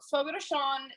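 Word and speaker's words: Fogo de Chão: Fogo de Chao is it's Portuguese and it means fire on the ground.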